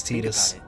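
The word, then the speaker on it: Tidus: theia Final Fantasy and they called his name tetus in that one so as far as I'm concerned his proper pronunciation of the name is tetus what did Kyrie and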